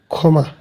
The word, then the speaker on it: ক্ষমা: যেমন ক্ষমা একটি শব্দ, যুক্তক্ষ প্রথমে বসেছে, তাহলে উচ্চারণ হবে যুক্তক্ষর পরিবর্তে শুধু খ, ক্ষমা।